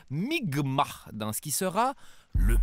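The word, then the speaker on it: Mi'kmaq: des membres de la nation mikmac qui se prononce en fait migma dans ce qui sera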